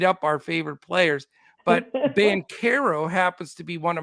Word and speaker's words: Banchero: half the names but it's not banchero it's Ben Caro oh like the dude's